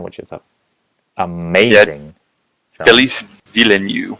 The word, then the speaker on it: Denis Villeneuve: Denis Villeneuve, I believe is how it's pronounced.